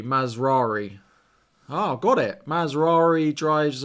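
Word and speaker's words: Mazraoui: over that run so you pronounce Ma RI like Ferrari mazari oh got it mazari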